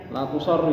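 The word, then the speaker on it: لا تُصَرُّوا: La bacanya apa? La tusorru ya. La tusorru yang betul.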